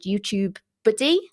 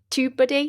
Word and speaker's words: TubeBuddy: A really, really good tool is something called YouTube Buddy. Did I say it right? TubeBuddy.